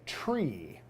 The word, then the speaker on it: tree: five we say Fife for three we say tree and for nine we